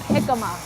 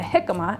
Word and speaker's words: jicama: Join me in the kitchen and we'll talk about jicama. So jicama, it's actually funny, it's spelled with a J instead of an H, right?